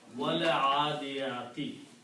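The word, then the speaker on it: وَٱلْعَٰدِيَٰتِ: And now when you pronounce, you do not pronounce this alif, just like we just learned, wal kitabi and wallahi. This becomes wal adiyati.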